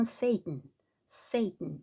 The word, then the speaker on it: Satan: 세이튼. 한국말로는 사단 이렇게 하기도 하고 사탄 이렇게 하기도 하는데 영어로는 Satan 이렇게 발음을 하고요. 프랑스어로는 사탄 이렇게 한다고 했습니다. 철자는 똑같은데 발음이 틀려.